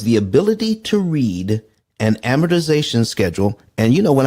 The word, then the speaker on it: amortization: Why is because the ability to read an amortization schedule.